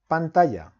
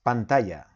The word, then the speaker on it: pantalla: Spanish is pantalla so I will write down pantalla then you will have to look for the pronunciation you also have it here in word reference okay it's pantalla so you will go to powerpoint insert audio